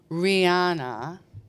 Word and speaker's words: Rihanna: That song was Don't Stop the Music, Rihanna.